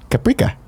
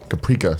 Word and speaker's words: Caprica: your pronunciation of Caprica he said paprika which I like it's like paprika oh I've no I don't know what that word is that Battlestar Galactica reference Caprica sounds more up my alley so they